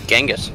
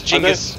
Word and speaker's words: Genghis: leaf for now really I grew up learning it was Genghis yep no we're wrong it's Jamis it Massey who was